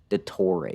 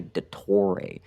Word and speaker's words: Dottore: It's just, you gotta say it with a little bit of an accent, otherwise you sound like an idiot. Dottore. You don't say Dottore. Dottore? That's not how you say it, man. That's not where the stress is, man.